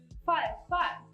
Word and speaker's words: farfar: But you write it with an R, but it sounds like an L. Farfar.